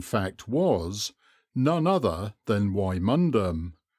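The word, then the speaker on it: Wymondham: was none other than waimundum pronounced Windham whether Benedictine monks and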